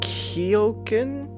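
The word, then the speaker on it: Keoghan: just tell me who played just barry kiyokin is how you say his last name yeah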